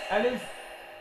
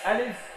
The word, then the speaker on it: ألف: আলিফ, ألف আলিফ। ألف শেষে বাতাসটা বের করে রাখতে হবে আর বাতাসটা চালু রাখতে হবে।